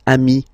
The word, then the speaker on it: amis: Plural form, you add this S, but it's ami as well.